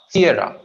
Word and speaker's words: Sierra: Sierra. CA first syllable थोड़ा लंबा खींचेंगे. रा को छोटाएंगे. S as in Sierra.